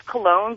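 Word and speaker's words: Colon: Well, my last name's Cologne, but it's spelled C-O-L-O-N.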